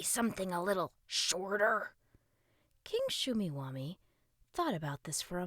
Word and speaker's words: Shumeewamee: who was just wishing for a superhero King shumi wami asked that was priv it Russ protested you